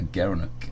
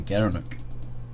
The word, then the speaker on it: gerenuk: gara gara knock overload he pronounced as a gerenuk the gerenuk yeah you just think